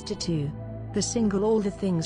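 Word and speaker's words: t.A.T.u.: this lady is a famous singer and a former member of the controversial music group de tu pronounced as tattoo the single all the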